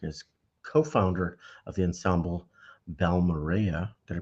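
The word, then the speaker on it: Balmorhea: for his work as co-founder of The Ensemble B Mara did I pronounce that right B Mara Ray yeah Ray I keep BMA Ray has recently delved into compositional Exploration with his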